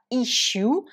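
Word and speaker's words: issue: donc si je résume et le mot ychoux donc que l'on prononce comme ça if you ça peut être un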